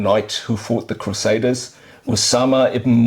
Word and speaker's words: Usama: who fought the Crusaders, Usama ibn Munqidh. Okay, we've got to spell that out for us. Usama, like Osama. Ibn, I-B-N. I-B-N. M-U-N-Q-I-D-H. M-U-N. Q-I-D-H. Q-I-D-H. How do I pronounce that again? Usama ibn Munqidh.